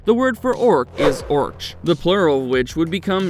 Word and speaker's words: orc: word for orc is orch the plural which would become merch later in his writings token preferred to spell it as orc to ensure the sea was pronounced as a hard k sound the origin of the